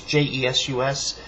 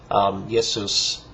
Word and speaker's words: Jesus: Testament, and so but it would have been pronounced at the time Jesus, not Jesus. That's more a modern English because of the way the sounds developed for the letter J, which wasn't the same at the time.